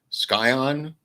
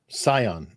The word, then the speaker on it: scion: Scion? Scion. I don't think it's not a hard C. I think it's a soft C.